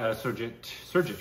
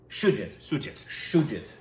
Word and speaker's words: Shoojit: But yes, starring those two, directed by Sergit, right? I believe so. I believe that's the proper pronunciation. Forget Sergit. Let me see the spelling again so we pronounce it right. Sanjit? Shoojit.